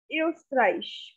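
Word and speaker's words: Österreich: german next comes is iostrice eustraish so now this word the meaning is austria austria it's not ostrich so it's rice rice so again we have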